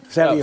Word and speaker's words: Saviuk: rhymes with book, you know? Saviuk.